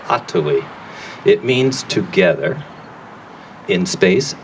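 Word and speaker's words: atowi: it more going forward the word and the name is ottowe a t o w i ato e uh you have to learn how to speak avenaki to say it properly the accents on the first syllable atoi it means together in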